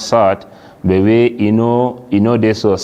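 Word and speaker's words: ص: Now when you pronounce sad, your tongue it dey just there below your teeth.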